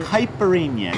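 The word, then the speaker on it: caipirinha: hyperemia because that's what one drink somewheres in hyperemia that's how you pronounce it books because you know we are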